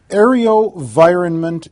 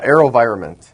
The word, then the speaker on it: AeroVironment: companies with you to this table today um Aro enironment Incorporated avav the ticker symbol did I pronounce that right yeah aerovironment is the name of the company I guess